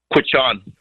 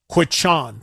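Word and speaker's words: Quechan: Give me the proper pronunciation of the name of that casino. Quichan. Quichan.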